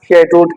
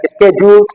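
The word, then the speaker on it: scheduled: events शेड्यूल्ड events या शेड्यूल्ड को यू can also pronounce शेड्यूल्ड एज स्केड्यूल event अब जो स्केड्यूल इवेंट्स होते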